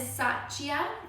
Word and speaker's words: Satya: uh the next two the first one is sachia okay and that stands for truthfulness and i'll spell that for you so satya is s-a-t-y-a i